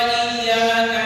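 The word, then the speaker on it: إِيَّاكَ: Kalau ada tanda tasydid, ada tanda syiddah, cara bacanya itu harus ditekan.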